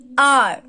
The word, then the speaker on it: our: Now this is OUR R. इसको हम कैसे प्रोनाउंस करेंगे? अवर नहीं बोलेंगे, क्या बोलेंगे? R.